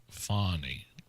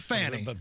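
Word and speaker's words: Fani: I mean, for what it's worth, it's Fannie. So it's spelled F-A-W-N-Y then? Maybe an H in there. No, it's spelled F-A-N-I. But so that's Fannie. But you're supposed to pronounce it Fannie.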